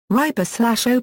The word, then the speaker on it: ربا: Riba/o plus or minus uomo section is pronounced and written similarly to rabbi/o plus or minus uomu, that means Lord Master.